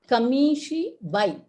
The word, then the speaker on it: kamishibai: kamishibai keeps moving and it has to be pronounced as kamishi bhai yeah so these are